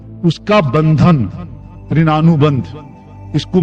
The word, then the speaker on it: ऋणानुबंध: कुछ लोग इसे ऋणानुबंध कहते हैं। उच्चारण में कुछ ऋण अनुबंध कहते हैं। ऋण अनुबंध।